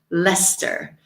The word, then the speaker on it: Leicester: Leicester.